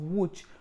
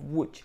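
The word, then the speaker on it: Łódź: today is the medical university of wut but in polish that is pronounced as medical university of wooch so the medical university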